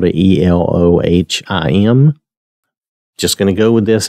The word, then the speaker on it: Elohim: this as it is phonetics Elohim that's how I've heard it pronounced again I may get some of these things wrong my pronunciation may not be exact but we'll do the best we can and the way I've heard it always is Elohim okay all right so